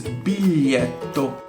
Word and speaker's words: biglietto: Biglietto is a difficult word to pronounce it right due to the gli in the middle of the word. However, it is pronounced exactly like the article gli. Biglietto.